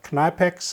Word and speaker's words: Knipex: But finally I settled to this one from Knipex, or Knipex as you English speaking people probably will pronounce it, and we'll before